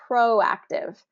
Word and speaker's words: proactive: Pro has that long o proactive first syllable stress.